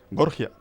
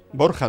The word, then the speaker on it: Borja: Borgia, ¿no? Borja decimos en español. Los italianos, como no pueden pronunciar la J, dicen Borgia, ¿no?